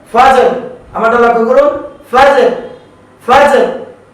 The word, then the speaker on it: فجر: ফায়ের পরে যে হরফটি হলো জিম, জিমের উপরে সাকিন রয়েছে কলকলা। কলকলা করে রয়ের উচ্চারণ করতে হবে ফাজর।